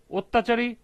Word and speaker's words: অত্যাচারী: ১৯, অত্যাচারী শব্দের সঠিক উচ্চারণ লেখো। এটার উচ্চারণ হবে ও, তারপরে তা চারি।